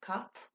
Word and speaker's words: cat: look at it c the word for cat is kat in irish and sometimes you might